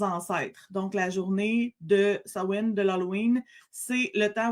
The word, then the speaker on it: Samhain: Mais de ce que j'ai compris, la bonne prononciation, c'est Samhain. En anglais.